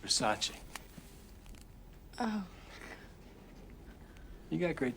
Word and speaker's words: Versace: it's a vers it's Versace what Versace it's pronounced Versace oh you got great great taste you look